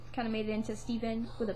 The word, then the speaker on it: Stephen: And then some people, like, say Stefan, and I'm like, oh, no, my name's not Stefan.